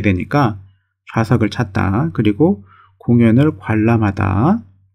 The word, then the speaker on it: 관람: 그리고 공연을 관람하다. 관람이 아니고 관람, 발음. 관람, 이렇게 읽어야 되겠죠?